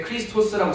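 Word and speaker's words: Χριστός: X가 카이라서요 K 발음이 나요. 그래서 X마스, 이거는 X가 이제 이 그릭으로 예수님에 대해서 쓸 때 크리스토스라고 쓰거든요.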